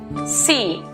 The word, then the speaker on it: see: La vocal E repetida en la misma sílaba también se pronuncia I, como en ver, see.